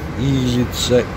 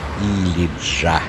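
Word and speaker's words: Ilıca: Тяжело привыкать читать, будто бы как думал Илица, Илиса, Илика, а оказалось читается Илиджа. Так по-турецки читается.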